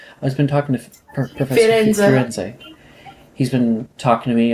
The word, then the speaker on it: Firenze: Well, right now, I've been talking to Professor Florenzi. Firenze, I think it's pronounced. I've been talking to Professor Firenze.